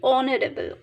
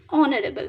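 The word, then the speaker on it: honourable: কারণ অনারেবল এটা একটা ল্যাটিন ওয়ার্ডের এইচটা দেখো উচ্চারণ হচ্ছে না। আমরা কি বলছি? অনারেবল। ও থেকে আমরা প্রোনাউন্স করছি অনারেবল।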